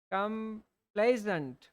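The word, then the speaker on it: complaisant: कम कंप्लेजेंट, सही प्रोनाउंसिएशन तो कंप्लेजेंट है ना, कंप्लेजेंट, कंप्लेजेंट, आज्ञाकारी, जैसे कंप्लेजेंट स्टूडेंट्स, कंप्लेजेंट सन, है ना, एवरीबडी नीड्स अ कंप्लेजेंट सन, है ना।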